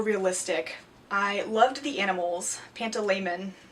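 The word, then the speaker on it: Pantalaimon: I loved the animals panto laman I think is how you say Lyra's demons name he was really interesting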